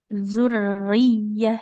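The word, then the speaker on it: ذرية: Zurriyah. Jadi kayak Wa double Y ya.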